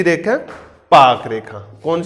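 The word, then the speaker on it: Palk: कहानी पाकिस्तान की होगी नहीं इसमें आज साइलेंट होता है पाक बोला जाता है पाक पाक रेखा कौन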